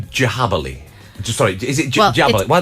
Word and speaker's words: Djabali: So it's Djabali. So it's spelled Djabali.